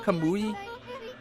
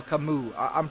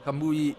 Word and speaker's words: Kamui: i miss pronouncing wrong is that kamui or kamu i'm pretty sure that's kamui so um camus set